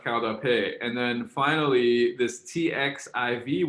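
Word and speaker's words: qaug dab peg: And it's pronounced kaudape.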